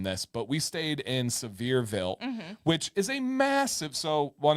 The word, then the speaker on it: Sevierville: On the same road, you end up in Sevierville.